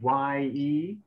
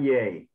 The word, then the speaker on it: ye: uh bible word that's spelled y e and remember happy so it's it's ye not yay and but you know